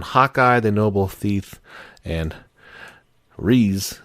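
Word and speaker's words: Riesz: the noble thief and REE I guess that's how you say her name r i e s z the Highborn capital of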